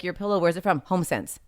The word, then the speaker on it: HomeSense: HomeSense. 2 syllables.